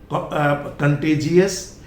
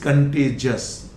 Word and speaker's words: contagious: Then again, it is not contagious, it is contagious.